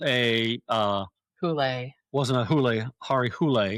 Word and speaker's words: Harry Hole: Hari Hule. I'm going to pronounce that right. Hari. Hule. Hari. Yep. Harry. Hari. Hari Hule. Not Harry Hole.